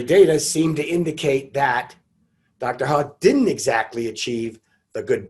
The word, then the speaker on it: He: i believe it's pronounced dr ha it looks like he but they pronounce it ha and dr ha used